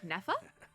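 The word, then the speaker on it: Nefer: It sounds more like Nefa, like the R is dropped.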